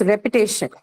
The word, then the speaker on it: repetition: Next one here is repetition. Now, Repetition. penultimate syllable now. Penultimate. Again, this has the shen suffix, hence penultimate.